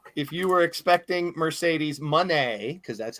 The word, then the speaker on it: Moné: If you were expecting Mercedes Moné, because that's how she pronounced it, care.